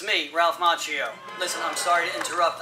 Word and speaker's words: Macchio: Danielson uh played by Ralph Macchio which is actually the Italian way pronounced Macchio but I believe he pronounces it Macho and I'll respect his decision so Jordan let's recap